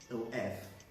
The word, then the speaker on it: of: form of this word, O-F. That word is, I hope you don't pronounce the word off like you want to switch off something, you know. It's with the V sound, of. Weak form, of.